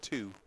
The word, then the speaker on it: Tieu: How do you say his name? It's two. Two?